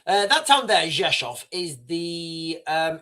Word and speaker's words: Rzeszów: This town here, Rzeszów, as it's pronounced in Polish, that town there, Rzeszów, is the it's the closest town to.